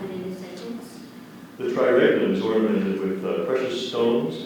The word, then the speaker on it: triregnum: The triregnum is ornamented with precious stones and pearls. Are there any alternate pronunciations?